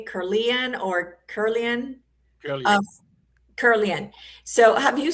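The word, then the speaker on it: Kirlian: Have you seen the Curlian photography of food? So I think I'm saying it right. Curlian or Curlian?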